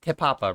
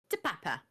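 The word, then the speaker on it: Te Papa: They did say it's Tepapa, right? Not we're not saying it wrong. What's alright? Uh, Papa? Tepapa. To Papa.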